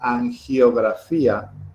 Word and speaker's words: angiografía: la diferencia, como una angiografía, que es como se pronuncia en castellano. Angiografía, porque los gatos se llaman gatos, no yatos, y que posiblemente no